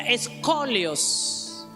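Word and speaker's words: σκολιός: significa la palabra perversa es la palabra griega escolios se escribe sk o L i o s Qué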